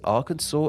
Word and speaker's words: Arkansas: in French so because Arkansas is a word of French origin it maintained that French pronunciation with the S at the end remaining silent despite the fact it's